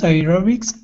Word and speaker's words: aerobics: words um hold on so here these e sounds are not on the stressed syllable right computer recorder aerobics so the e is not in the part of the word that we stress and when that happens we tend to use the e is